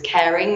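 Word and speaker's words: Kering: group that are doing very well indeed is caring which is spelled k-e-r-i-n-g they used to be the Gucci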